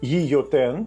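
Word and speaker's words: Guillotin: Гільотину винайшов гійотен. Так, його ім'я пишеться через doul, але вимовляється як й, бо в іспанській doul читається як й.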